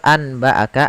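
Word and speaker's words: أنبأك: Maka cara membacanya adalah amba'aka dengan bacaan itbaq.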